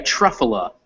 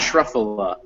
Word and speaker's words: truffle: so it's uh yeah truffle is how we do that truffle and um the way i can kind of figure that out and this will be a little guide on english um intonation is so i know that trough t-r-u-f is the uh root word and i imagine that's pronounced trough just because that's kind of the most obvious way to say a truck it looks like tough for stuff so truff then in english the